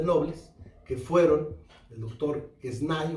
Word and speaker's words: Quesnay: política, nos referimos a el doctor Quesnay, Quesnay, si lo pronunciamos en francés, Montesquieu, Rousseau, que tienen un papel fundamental en la Revolución Francesa.